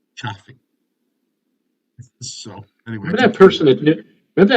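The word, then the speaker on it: Ciffing: is in Frank I and it's pronounced chaffy so anyway that person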